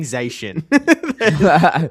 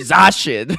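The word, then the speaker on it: Zacian: Zashian, you're right cuz it's actually Zashin.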